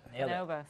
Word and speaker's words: Bonobos: They are co-founders of the men's internet retailer, and guys, if I say it wrong, Bonobos. Got it. Bonobos.